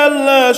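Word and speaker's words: الله: আল্লাহ শব্দের পূর্বে আল্লাহ শব্দের ডানে যদি আল্লাহ শব্দের ডানে যদি জের থাকে তাহলে আল্লাহ শব্দের উচ্চারণটাকে পাতলা করিয়া পড়িতে হয়।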